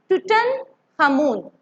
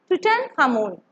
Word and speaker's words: Tutankhamun: You have to pronounce with me. Tutankhamun. Tutankhamun.